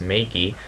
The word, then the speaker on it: Megi: It is pronounced Megie over here in the Western Pacific.